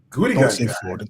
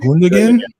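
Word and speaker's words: Gündoğan: It's Gudigan. Don't say Foden. No, I said Icky. Not Grealish. Yeah, Gudigan. Is that how you say his name? Gundogan?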